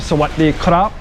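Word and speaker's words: สวัสดีครับ: So when you say, oh, sawadee krap, that is the proper way to say.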